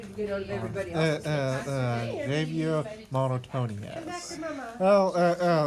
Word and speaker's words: Javier: Now that I've told you how to pronounce it correctly. Javier Reginald Samuel Whitman have Monotonious is a fictional character created by the YouTuber and cartoonist M.